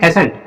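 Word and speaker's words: ascent: अब देखते हैं ASC, देखो सी से पहले फिर से एस, जब जब सी से पहले एस मिलता है तो वहां पे सी साइलेंट होता है। अब आगे देखते हैं ENT, इसको क्या पढ़ेंगे एसेंट, एसेंट का मतलब होता है आरोहण।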